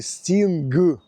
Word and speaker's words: sting: кажу а хто ж знав що в слові Стінг г не вимовляється А я коли казав